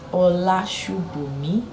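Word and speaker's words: Olasubomi: from Nigeria yes and my name is pronounced hola me spelled o to the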